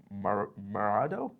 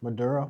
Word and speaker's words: Maduro: But on January 3rd, the president of um Venezuela, which is Marado, however it's pronounced. Maduro.